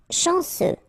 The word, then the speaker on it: chanceux: Chanceux, final X not pronounced. This CEU, ce, chanceux, chanceux. De luxe.